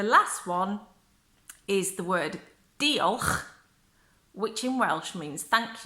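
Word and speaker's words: diolch: and then the last one is the word do huh which in Welsh means thank you it doesn't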